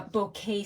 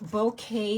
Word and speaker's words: Bokeh: you were interested so it's bow and K but the emphasis is on the bow part I can mispronounce so